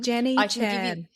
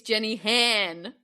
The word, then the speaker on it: Jenny Han: Her last name rhymes with Anne. Jenny Chan. Oh, you are so close. It is Jenny. It's Jenny Han, not Jenny Jan.